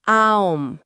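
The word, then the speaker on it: Aum: Para practicarlo, el texto indica que se eleve abrir bien la boca al principio para pronunciar la vocal A, representando esa apertura inicial. Luego, sin detener el sonido, se debe redondear la boca físicamente, formando un círculo con los labios para la vocal O.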